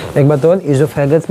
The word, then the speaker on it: oesophagus: अच्छा, कुछ लोग देखोगे इसको ओइसोफेगस पढ़ते हैं। तो एक चीज़ जानते रहो कि बायोलॉजी में जहाँ भी ओ ई से स्पेलिंग शुरुआत होती है उसका प्रोनाउंसिएशन हम लोग ई करते हैं, है ना।